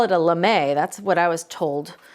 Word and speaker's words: lame: Now, using a sharp knife, this is actually, we used to call it a lame. That's what I was told how to pronounce it.